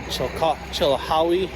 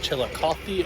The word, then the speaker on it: Chillicothe: All right, so I'm pretty sure I just said Chilhowie, Ohio. It's actually pronounced Chillicothe, Ohio.